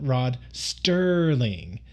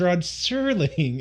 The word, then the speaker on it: Rod Serling: So I've been consistently calling him Discount Rod Sterling, which I thought that was the correct name of the actor, but no, I was getting that name wrong. His name is Rod Serling, and that is just classic me to a T.